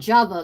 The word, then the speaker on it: Java: It's called java, like lava, like l a va, but it's just spelled with a J in the front.